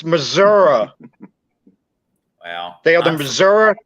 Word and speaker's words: Missouri: It is pronounced Missouri. It's not Missouri, it's Missouri.